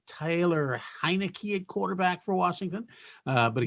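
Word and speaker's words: Heinicke: can you say tyler heineken quarterback for washington uh but nobody can say tyler or anything it's not spelled like heineken it's like okay who you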